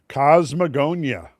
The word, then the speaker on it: Kosmogonia: How do I pronounce this? Cosmogonia. Cosmeagonia.